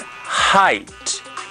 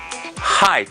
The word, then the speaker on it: height: HT the spelling of a word and you pronounce it height height is the pronunciation of that word so we're